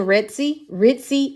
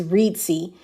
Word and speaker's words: Reedsy: So y'all remember I was in Ritzy. I've been pronouncing it wrong. It's Reedsy.